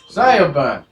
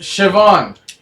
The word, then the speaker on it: Siobhan: Zyobun. It's pronounced Siobhan. Forget what I said the first time then.